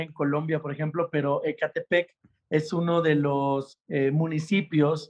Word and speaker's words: Ecatepec: Está con nosotros el pastor Bruno Castañeda de la iglesia Supra en Ecatepec, Estado de México. Bienvenido, pastor. Espero que haya pronunciado bien Ecatepec.